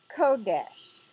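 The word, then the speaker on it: קֹדֶשׁ: in this one sentence is he brewed number 69 44 in strong's concordance and it is the word kodesh with the accent on the KO Curtis it means out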